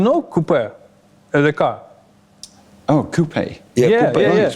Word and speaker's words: QP: Oh, coupe. Yeah, купе. yeah. Right, You right, need to pronounce just like this. Coupe.